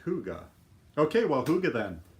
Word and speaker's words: hygge: how you say it Kathy says it's pronounced hygge okay well do get